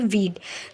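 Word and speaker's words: we'd: वी के बाद apostrophe लगा के डी लिखते हैं और इसका प्रोनाउंसिएशन होता है वीड।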